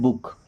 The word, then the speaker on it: book: कुछ केसेस ऐसे होते हैं जहाँ पे डबल ओ का उच्चारण भी करते हैं छोटा ओ की मात्रा, जैसे देखिए BOOK, इसको हम पढ़ते हैं बुक।